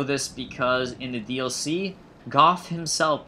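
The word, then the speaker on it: Gough: Bow of the Dragon Slayers, led by Hawkeye Goff, one of Gwyn's 4 knights. Yes, it is pronounced Goff, not Go. We know this because in the DLC, Goff himself pronounces his name as Goff.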